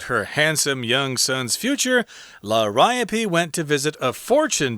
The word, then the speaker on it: Liriope: Liriope, which is kind of a weird pronunciation for that word. We know, but that's how they say it.